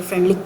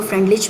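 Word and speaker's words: Freundlich: तो ये आगे आपको मज़ीद क्लियर हो जाएगा जब मैं फ्रेंडलिक की आपको बताऊंगी। इसको फ्रेंडलिच भी कहा जाता है, फ्रेंडलिक भी कहा था, बट I will pronounce it फ्रेंडलिक adsorption isotherm और लैंगमन एड्सॉर्प्शन आइसोथर्म, ये दो हमारे पास आइसोथर्म्स हैं।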